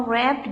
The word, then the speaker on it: wrapped: The next is he gave him a wrapped gift box. Here W is silent. It is not being pronounced.